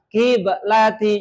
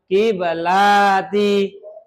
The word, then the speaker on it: qiblati: Nah, perhatikan cara bacanya bukan qiblati lanya itu gak pendek gak panjang qiblati jangan kiblati salah qiblati ulangi.